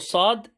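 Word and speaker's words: ص: off with the letter sob so remember the pronunciation it's not the shop s sound it's more of a slow sod okay so for sod fits huh so sleep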